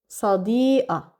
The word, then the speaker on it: صديقة: What did I do? I kept qaf with fatha because it's one of the exceptions, and I didn't do any changes before it. Plus, I also didn't pronounce that marbuta, and I changed qaf to a because this is a common way to say qaf in Lebanon.